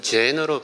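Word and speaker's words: Zen: 선나 선이 돼서 어 중국에서 찬으로 발음하고 일본에서 젠으로 발음한다 선 찬 젠 이것은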